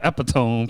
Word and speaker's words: epitome: I've been saying the epitome for like the longest. Yeah, But it's epitome. yeah, I could spell it, read it right, everything, but I'll say it wrong.